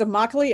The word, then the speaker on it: Immokalee: It's Immokalee. It rhymes with broccoli.